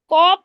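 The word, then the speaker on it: ق: মোটা করে আমি বলি কফটা হবে মোটা করে কাফটা হবে পাতলা করে কফ জি কাফ জি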